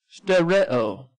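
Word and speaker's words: ὑστερέω: Excuse me, I didn't pronounce that right. Hysterio. That's H-U. I'll show it to you here. It's H-U-S-T-E-R-E-O. Pronounced hu. What, Cindy? Okay. Pronounce hystereo, and it's a present passive indicative.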